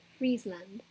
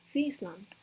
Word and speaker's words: Friesland: So like before, if I was trying to say, even, I think before I would say Friesland, which is really cringy now, but it's actually Friesland with a T at the end.